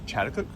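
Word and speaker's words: Chatuchak: And I never pronounced it correctly, but the Chattakook weekend market, I believe.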